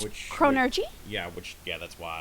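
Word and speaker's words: chronurgy: n u r g y yes so it's chronergy yeah which yeah that's why I pronounced it so weird earlier chronergy chronergy chronergy it's it's Tom magic one of the two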